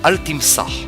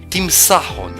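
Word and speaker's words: Timsah: cet animal en arabe Altimsar. Petite recherche sur Google. Donc, Altimsar ne se prononce plus de cette manière. Aujourd'hui, on dit Tim Sahon.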